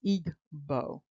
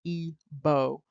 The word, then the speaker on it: Igbo: So when you look at the Hindi, you see it is Igbo. So it's not simply Igbo as it is pronounced in English. The G is prominent.